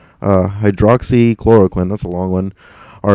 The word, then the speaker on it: hydroxychloroquine: mectin or hydro uh hydroxychloroquine actually that's how you pronounce that uh hydroxychloroquine that's a long one are effective treatments for covalent 19.